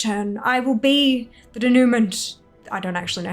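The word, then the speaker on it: dénouement: Pronounce. Not American. Denouement. Denouement, right, of course.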